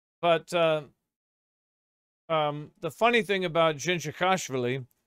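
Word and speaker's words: Dzindzichashvili: But the funny thing about Jinji Khashvili, which is the correct pronunciation of his name, by the way.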